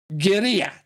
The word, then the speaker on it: guerrilla: Yeah, I know how you say it in English, but like I said, it's an Spanish word. Guerrilla.